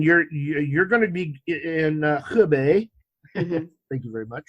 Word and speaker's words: Hebei: So now after this, then you're going to be in Hebei. Mm-hmm. Thank you very much for pronouncing that right.